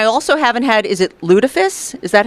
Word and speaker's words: lutefisk: this, and I also haven't had, is it lutefisk? Is that how you say it? And I am so glad to learn that they don't have any because I really don't want to try it. It's lutefisk.